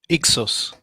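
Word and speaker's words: Hyksos: That king might be the 17th dynasty of Hixus or the um how do you pronounce how do you say St. David? Uh Exxus Exxus, right?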